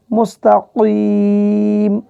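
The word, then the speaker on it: مستقيم: আসলে আছে তল মুস্তাকিম, এখানে কফ জিহ্বার গোড়া থেকে মোটাভাবে উচ্চারণ করবেন মুস্তাকিম এইভাবে।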